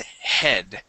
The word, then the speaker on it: head: and hatred okay uh when we pronounce the uh the D in English Okay H we we pull our tongue back and we hit the top of our mouth head head okay you